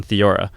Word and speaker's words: thiourea: of them is built on thiourea, pronounced thi-o-u-re-a, and acids.